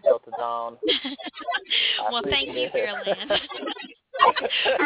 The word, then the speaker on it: Erland: If you want to follow them on Twitter, it's Erland Music.